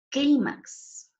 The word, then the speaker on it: clímax: una s una vocal como es en el caso del clímax miren no termina ni en en nn sin invocar y lleva mayor fuerza de voz en última sílaba clímax cierto su sílaba tónica está en ti por eso debe llevar